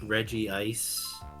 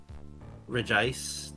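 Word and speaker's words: Regice: people noticed that the it's not like reggi ice it's re ice technically like there is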